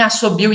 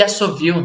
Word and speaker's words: assovio: Então é que nem assobio e assovio, né? As duas pronúncias escritas são corretas porque o V vem do B e o V é mais recente que o B, né?